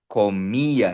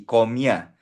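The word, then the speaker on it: comía: comia so notice ha may asento sa i kaya ipo-pronounce natin yung i separately comya hindi komya comya nosotros nosotras komiamos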